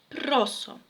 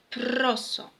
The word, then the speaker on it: proso: Jeśli mamy tutaj w tekście proso, jeśli mówimy, to słychać proso, proso. Natomiast będziemy śpiewać proso, proso. I to jest właśnie ten akcent, zmieniony troszeczkę. On jest tak jakby pod włos. Jest odwrócenie tego akcentu i nie tylko w